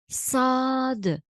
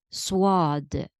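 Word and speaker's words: صاد: pronouncing should be correct some students pronounce for example sad as swad there is no wow in sad we pronounce the letter as s once you get used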